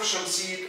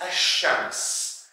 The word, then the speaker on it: الشمس: You write it but you don't pronounce it. For example, يعني the perfect example for that, which is الشمس.